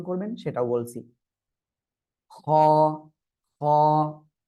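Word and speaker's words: خاء: খ, খ। হলকের শেষ ভাগ থেকে এই অক্ষরটি উচ্চারণ হয়। হলক মানে গলা, এই গলার শেষ ভাগ থেকে খ।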